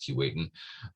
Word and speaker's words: Keewatin: And since it's normally pronounced Keewatin, despite the way it's spelled, it's properly pronounced Keewatin, I thought, I've caught Lemire.